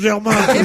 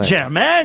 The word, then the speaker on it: Jermaine: y a que les ploucs qui prononcent Germain. Eh ben ça y est, c'est Janet Jackson et Germaine Dupré.